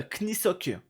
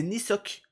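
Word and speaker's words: Kneesocks: Mais du coup, moi je prononçais, on se rappelle, euh Knisock avec le K devant. Alors qu'en fait, c'est le K ne se prononce pas et c'est Nisock.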